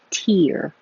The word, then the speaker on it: tier: tear as in levels it sounds the same but the vowel is e like ear tier maybe I'll write it